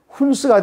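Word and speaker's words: Huns: 근데 이 흉노족을 영어로 발음하면은 훈스가 됩니다.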